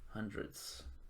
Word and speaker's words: hundredths: four and twenty five hundredths remember to put that th on hundredths because uh 2500 25